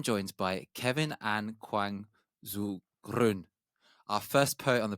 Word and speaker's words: Groen: my Korean name, but mostly with my Dutch last name, Groen, because of the Dutch pronunciation. It has this very hard sound, which comes from the back of the throat. So we often say the way to learn to pronounce that is to pretend you're spitting and Groen I felt the with a spit.